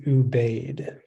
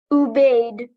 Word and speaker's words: Ubaid: Your word is ubaid.